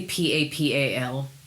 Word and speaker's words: papal: usually continues until Easter how do you say p a p a l Pap I say paple because I live in the south it's is papal it's Pap okay Pap document H here